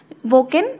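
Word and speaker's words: Joaquin: Personality को मिले हैं, वोकिन फिनिक्स। ये जे को डब्ल्यू प्रोनाउंस करना है, और इन्होंने जोकर मूवी में एक्टिंग करी थी।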